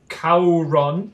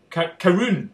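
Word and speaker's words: Caorunn: oh I love Jin Jin from Scotland called Kon it's actually pronounced karon karun karun that's what it is Kon all right if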